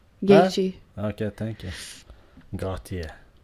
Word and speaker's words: Gaethje: Justin Gauthier. Gaethje.